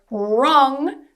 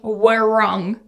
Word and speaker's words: wrong: Whenever you have W and R together in a word at the start, the W tends to be silent. So if you think of the word wrong, we don't say were wrong.